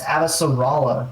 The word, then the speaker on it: Avasarala: So, And um, I've said it wrong for so long, and I've tried to correct myself. It's Avasarala because there's no O in her name.